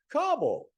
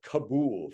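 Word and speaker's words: Kabul: Taliban you got it and then Cabo cabble it's not kabo for goodness sakes it's kabble okay now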